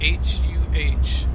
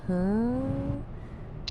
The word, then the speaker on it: huh: It's not just how you say it, it's the tone. It's more drawn out. Like, huh? With a little upward inflection. It's definitely not a hard huh, like you're confronting someone. It's softer.